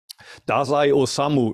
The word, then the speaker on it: Dazai Osamu: His name is Dazai Osamu, you pronounce the name in Japanese.